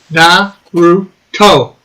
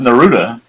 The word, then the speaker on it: Naruto: Yeah, I put a proper pronunciation in the chat for those that care. Naruto. Yes, that's how you pronounce it.